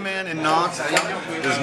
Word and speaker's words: Nantes: Nantes.